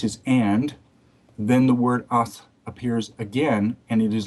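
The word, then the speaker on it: את: the fourth word in, which is pronounced ath, and it's the aleph tav, the first and the last letters of the Hebrew alphabet, it is left untranslated.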